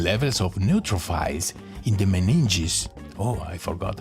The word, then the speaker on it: meninges: Meninges pronunciation. Meninges. Okay, meninges.